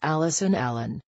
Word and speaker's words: Alison Allen: and said sorry teacher i think that's me it's pronounced alison allen joke 10 once upon